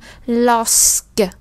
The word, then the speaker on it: lorsque: Các bạn để ý có âm sờ nha. Lorsque.